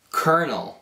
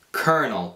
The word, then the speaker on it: colonel: Ho visto questa parola e io l'ho pronunciato come colonel. Colonel, perché questo è proprio... Quando si vede questa parola si pensa di pronunciarlo così, ma invece in inglese noi diciamo colonel.